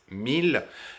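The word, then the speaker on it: mille: for one thousand in this case we just pronounced it mil and apart from that it's 100 regular so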